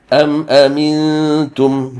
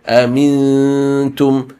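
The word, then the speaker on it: أنتم: You shape your mouth as if you're going to pronounce the letter ta, but you read through the noon sakin. So amintum, amintum.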